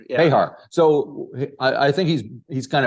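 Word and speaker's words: Bejar: Is his last name's pronounced Behar? Behar. Yeah. Behar.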